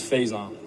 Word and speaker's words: Faison: Some of the misprononunciations of my name is Fasin Faison Faison. The correct way to say it is Faison.